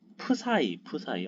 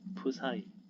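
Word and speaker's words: ψ: 파이 발음 파이 요거는 푸사이 어려워 푸사이 네, 이럴 겁니다.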